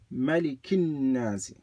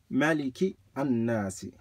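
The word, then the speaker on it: مَلِكِ النَّاسِ: If you join them, you just say Malikin Nasi. But if you separate them, you do read the alif. It would be Maliki an-Nasi. But in the Quran, we don't read it that way.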